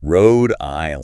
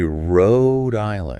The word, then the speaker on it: Rhode Island: of course Rhode Island Road Island see I would probably say Road Island right it seems like it should rhyme with code or mode exact but it's actually Road Road Road Island Island yes emphasize that okay